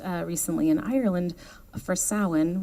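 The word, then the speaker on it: Samhain: recently in Ireland for sin which is spelled Sam Hayne but it's sa and it's the start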